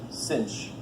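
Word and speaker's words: sinh: for the hyperbolic and we pronounce this cinch and oh Sh so the cinch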